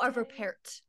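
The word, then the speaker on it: Arvo Pärt: you say his name it's arvo par oh arvo Parr yes Parr it right oh it was beautiful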